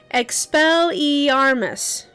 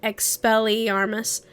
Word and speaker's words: Expelliarmus: spent all morning learning expel ermus or rather everyone else had spent all morning learning expelliarmus expelliarmus oh that worded me